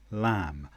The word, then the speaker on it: lamb: For example, climb, comb, lamb. I climbed a mountain. I combed my hair. A baby lamb is in the field. So in climb, comb and lamb, we don't say the B sound.